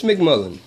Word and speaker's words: MacMullan: Dennis MacMullan.